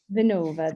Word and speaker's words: Vinnova: Am I pronouncing that correctly? Vinnova? Vinnova, the Swedish government's innovation agency.